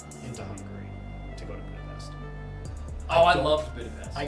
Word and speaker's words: Budapest: No, it's pronounced SH, not S. Austria, Budapestt. What are we talking about? Budapest. Budapest. Oh, it's Budapestt. Really? Budapest? No, you're wrong. Local citizen alley. Uh, it's called Budapest.